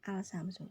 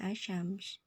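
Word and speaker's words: الشمس: bukan asyamsu betul gak bukan alsyamsu jadi Alif lamnya ini seperti hanya ee nampang saja di situ jadi dia tidak terbaca bukan alsyamsu ya tapi dia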